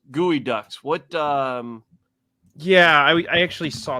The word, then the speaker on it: Geoduck: It's spelled like Geoducks, but it's Gooey Ducks. Gooey Ducks.